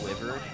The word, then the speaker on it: Wyvern: Wyvern. That's some people pronounce it Wyvern, but that's generally the lower number of people. The percentage-wise, most people say Wyvern.